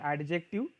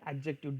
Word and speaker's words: adjective: It is an adjective and don't pronounce it as an adjective. It is pronounced as adjective.